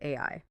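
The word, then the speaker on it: 愛: In Japanese, the kanji character for love is pronounced AI.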